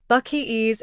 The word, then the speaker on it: Buc-ee: Is it, how did you say it? Buc-ee boys? Buc-ee boys, yeah.